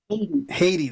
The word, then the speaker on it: Hedy: and I want to tell you my name Haiti that's right yeah I had it in my head and I always mispronounce the bagasse man that's a it's a